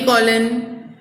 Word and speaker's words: colon: कॉलम, कॉलम नहीं semi कॉलन, कॉलम मतलब वो एक पूरी लाइन हो जाती है, ठीक है। तो कॉलन, कोलन और कॉलम, ये दोनों में प्रोनाउंसिएशन डिफरेंस है, ओके।